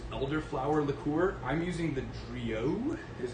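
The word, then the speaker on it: Drillaud: I'm using the Drio, is how it's pronounced.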